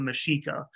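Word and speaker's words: Mexica: of that alliance is called the mashika and that by the way we spell that as m-e-x-i-c-a they're the ancient ancestors of modern-day mexico and the mashika were the dominant power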